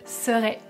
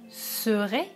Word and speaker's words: serai: priorité bien sûr donc attention à la différence de prononciation entre le verbe savoir et le verbe être je serai et je saurai serez sort et est ce que vous entendez la différence avant de voir dans